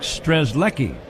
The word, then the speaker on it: Strzelecki: Zach is bringing down some information regarding phonetics, and it looks like Strzelecki. Now, Zach, without looking, can you spell his name? Ooh. I don't know. Strzelecki.